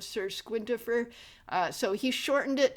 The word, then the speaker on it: Squintifer: I think because people were mispronouncing it as Sirquintifier instead of Sir Squintifer.